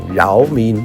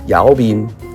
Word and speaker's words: giáo viên: 个字，那我们最常讲饶民就是老师，这个是北越的发音，饶民就是老师。那我们南越就念姚民这个是教